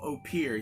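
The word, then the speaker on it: Opihr: Middle Tennessee we got ourselves a bottle of opere here that is how it's pronounced by the way also they do use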